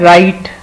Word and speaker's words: write: राइट means लिखना, और इसमें आप देख रहे हैं कि स्पेलिंग्स में डब्ल्यू आता है, डब्ल्यू इज साइलेंट, वो लिखने में लिखा जाता है लेकिन बोलने में पढ़ा नहीं जाता।